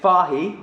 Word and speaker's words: Fage: a day to be honest um and then fahi apparently Fage is how you spell it total yogurt again get the full fat